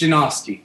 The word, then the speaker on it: Janoski: It's Janoski.